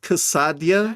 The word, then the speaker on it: quesadilla: Um, it's pronounced cassadia.